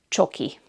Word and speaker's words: csoki: Or for short, csoki.